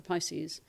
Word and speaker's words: PISCES: And we've just seen uh the finalization of the regulation for Pisces, which is private intermittent securities and capital exchange system regulation where the R is silent.